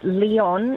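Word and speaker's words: Lyon: I'm thinking lion um is Leon in France cuz a lot of people mispronounce that.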